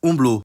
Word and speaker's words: umblu: Notice how the first person singular is umblu.